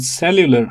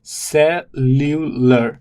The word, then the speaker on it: cellular: would find the word cellular. I would look at the pronunciation. It is suer. So it's cellular and the stress falls on the first syllable.